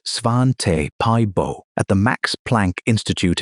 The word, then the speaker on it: Svante Pääbo: In 2010, a team led by the Swedish geneticist Svante Pääbo, pronounced Svan-te Pie-bo, at the Max Planck Institute in Leipzig, published the first draft of the Neanderthal genome.